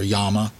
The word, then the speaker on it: Llama: You had Star, and then you had Llama, or Yama, that's how it's pronounced, but most people say Llama, and you had Astra.